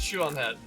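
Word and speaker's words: Shoe0nHead: the author, which is Shoe-on Head. What the fuck, Shoe? It feels weird, because I know she spells it S-H-O-E, but the way you pronounce it sounds like S-H-E-W.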